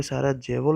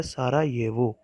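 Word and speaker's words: Sarajevo: ये दिखने में साराजेवो लगता है बट इसे प्रोनाउंस सही तरीके से करा जाता है सारायेवो, और जो वहाँ की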